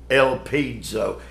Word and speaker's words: elpizo: The verb there for trust, elpizo. Elpizo. E-L-P-I-Z-O. Though you do hear the D sound when I pronounce it.